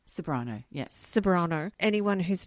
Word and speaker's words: Ceberano: Kate Severano. Speaking of Kate Ceberano, and I know that's not really how you say her name. How do you say it? Kate Ceberano. Ceberano, yes.